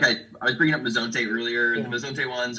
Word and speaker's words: Mezonte: do you spell that? Mezonte, is it M?